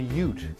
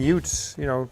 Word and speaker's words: Ute: It's called a Ute, and you spell that U-T-E.